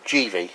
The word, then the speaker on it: Givi: Um is uh I've called it either Givy or Jivvy, but apparently uh Jivvy is the correct pronunciation.